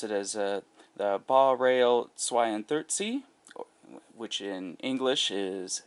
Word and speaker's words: Baureihe: BR42 in German you would pronounce it as the Baureihe 32, which in English is Series 42.